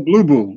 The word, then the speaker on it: Bluboo: Spell it. QSR. No, hold on. Blue. BLUBOO S1. Oh, Blue Boo.